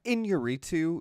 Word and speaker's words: Iñárritu: Yeah, Iñárritu. That "in" with the thing over it is Inye. Yeah. Yeah, Nye.